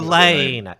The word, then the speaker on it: Ghislaine: Ghislaine. It's like Elaine, but with a G.